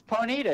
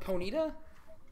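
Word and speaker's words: Ponyta: it's uh six seven nine nine nine it's ponita isn't it yes but how do you spell it I just put it on your thing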